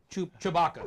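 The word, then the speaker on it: Tshibaka: Chewbacca.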